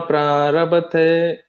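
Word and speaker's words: ಪ್ರಾರಭತೇ: ಶರೀರ ವಾಂಗ್ಮನೋಭಿರ್ಯತ್ ಕರ್ಮ ಪ್ರಾರಭತೆ ನರಃ ನ್ಯಾಯಂ ವಾ ವಿಪರೀತಂ ವಾ ಪಂಚೈತೆ ತಸ್ಯ ಹೇತವಃ. ಹರೇ ಕೃಷ್ಣ ಮಾತಾಜಿ. 2ನೇ ಚರಣ ಹೇಳಿ ಪ್ರಭುಜಿ ಇನ್ನೊಮ್ಮೆ. ಕರ್ಮ ಪ್ರಾರಭತೆ ನರಃ. ಭ ದೊಡ್ಡ ಭ ಬರುತ್ತೆ, ಒಂದ್ ಮಹಾಪ್ರಾಣ ಗಮನಿಸಿ.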